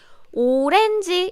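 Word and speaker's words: 오렌지: example here would be orenji is orange as you can guess is korean pronunciation this is a korean way to pronounce orange and orange it ended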